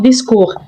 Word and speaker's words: discours: Attention, la lettre T à la fin est une lettre muette. Ne dites pas discours, mais on prononce discours.